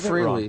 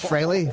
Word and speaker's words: Frehley: I always spell it wrong. Everyone freely, but it's Freley. Freely admits that Freley is the proper pronunciation. It is. It is Freley.